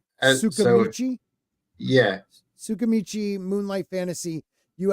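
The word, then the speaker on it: Tsukimichi: Chuscamichi. No, the T is silent, so you got to say it with a. Sukamichi.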